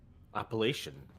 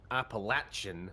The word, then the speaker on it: Appalachian: oh sorry you're saying there's the two is ways Appalachian appalation the first is how the locals would pronounce it well ordinarily I would